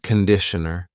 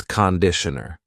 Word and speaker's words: conditioner: Be careful of the pronunciation. It's not conditioner. It's conditioner. The first vowel is a schwah. Conditioner.